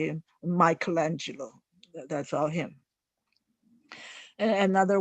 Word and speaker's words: Michelangelo: So Da Vinci is certainly a Renaissance man, and also you can say Michelangelo is a Renaissance man.